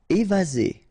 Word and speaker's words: évasé: Évasé. Remember, one S between two vowels. Z.